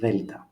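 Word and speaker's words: Δέλτα: We can say it's like TH in the word father, father, Delta.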